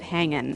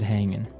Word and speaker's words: hanging: But usually you don't really pronounce the G in this context cuz it's very informal. So, how's it hanging? How's it hanging?